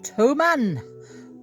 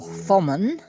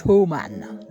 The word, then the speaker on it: Thomann: musical instrument delivery from Toman or Fman. Now, it's in Germany, so I think it's Toman. You don't pronounce the th Anyway, whatever.